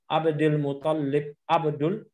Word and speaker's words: Abdul Muttalib: bin Abdul Muttalib bin lamnya enggak tasdid, yang tasdid hanya huruf ta. Abdul Muttalib, ta-nya enggak tasdid, yang lamnya ya. Abdul Muttalib bin Hashim jangan bin Muttalibi, Abdul Muttalib.